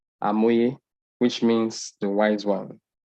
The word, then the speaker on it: Hamoye: Then Hamoye, the word Hamoye is derived from a Yoruba word pronounced as Amoye, which means the wise one.